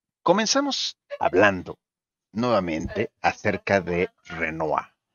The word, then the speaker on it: Renoir: Así es, este pintor de apellido Renoir, o si lo queremos leer en castellano, pues sería Pierre Auguste Renoir. Lo correcto es pronunciarlo en francés como Pierre Auguste Renoir.